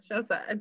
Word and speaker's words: Shausa: Did I pronounce that correctly? Yeah. Yes, Shausa. I thought so. It sounds like an Arabic word.